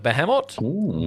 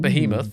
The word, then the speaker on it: Behemot: behemot I think the behemot by Zio Behemoth no no no missing the H so it's not Behemoth it's close to Behemoth but it's behemot the behemot by Zio